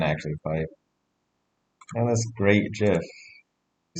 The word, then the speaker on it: GIF: times they are wrong it's a soft g pronounced jif well i'm just going